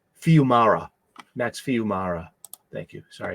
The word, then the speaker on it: Fiumara: If you're not tuned into Sacrificers by Rick Remender and Max Fuyama, is that how you say his name? Fiumara.